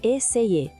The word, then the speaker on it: essayer: A pronúncia de essayer é meio essayer.